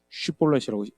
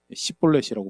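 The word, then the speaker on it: שיבולת: 슈볼렛이라고 SH 발음이 들어가면 그게 이제 그 뭐죠? 내가 신내물 뭐 이런 뜻이라고 하는데요. 근데 에브라임 사람들이 정항상 H 발음이 잘 안 됐던 거 같아요. 시볼렛이라고 발음하면 어 나 에브라함이다라고 죽이는 사실 우리가이 비슷한 이야기를 알고 있어요.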